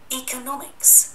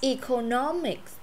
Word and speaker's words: economics: Economics. Economics, đó, trong tiếng Anh thì nó là nomics. Anh Mỹ là economics. Economics, anh Mỹ là nammics, anh là nomics. Muốn cái gì cũng được.